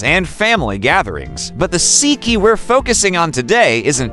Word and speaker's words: Sikhye: Sikhye, pronounced shee-kheh, is a traditional Korean sweet rice drink that has been enjoyed for centuries.